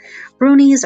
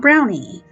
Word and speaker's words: brownie: are honorable and organized brunies are Shaggy ugly little dwarves their name is properly pronounced Bruni not brownie however they are traditionally